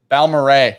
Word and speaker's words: Balmoral: It's Balmoral.